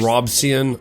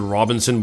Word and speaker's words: Robison: A man by the name of John Robison, I don't know, look how it's spelled right here. I I want to pronounce it Robinson, but it's not it's Robison.